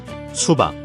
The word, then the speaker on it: 수박: Here's how to pronounce it. 수박, 수, 박, 수박.